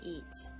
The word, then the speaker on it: y: comen, that means they eat, as in more than one person. So if I say donde comen, where do they eat? Donde comen, Peter, E, pronounced E, it's actually letter Y, E means and.